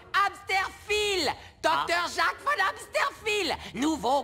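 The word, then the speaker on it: Hämsterviel: Ça se prononce Amsterfil.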